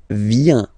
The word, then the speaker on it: vient: Il, elle, vient. Final T, not pronounced, il vient, elle vient.